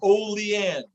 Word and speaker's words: Olean: Oh, it's pronounced not Olean. I really chopped that up. It's O. He spelled it out. Thanks, Gunner. He spelled it out. OH-LEE. He told me exactly how to say it.